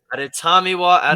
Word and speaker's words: Adetomiwa: Adetomiwa Yes.